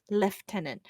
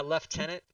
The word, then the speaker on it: lieutenant: Colonel spelled Colonel also why do British people pronounce Lieutenant as leftenant that one will always